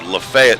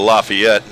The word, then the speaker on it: Lafayette: plus years to learn how to say Lafayette and or lafette instead of Lafayette now I got to relearn it but uh Southern pronunciation and the northern pronunciation so the clouds look